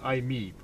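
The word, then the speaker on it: i-MiEV: How do you pronounce it? We call it IMEV.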